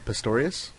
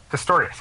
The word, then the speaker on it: Pistorius: inspired by and I'm going Simon will you pronounce this guy's name because every time I do I Club it uh Pistorius Pistorius yes Oscar Pistorius he was a Olympic track